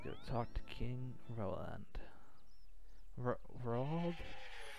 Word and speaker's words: Roald: Roald? I keep saying Roland, but I know that's wrong. It's R-O-A-L-D.